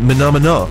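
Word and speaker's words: Menomena: Apparently you should actually pronounce it Menomina, as in the Muppet song Menomina.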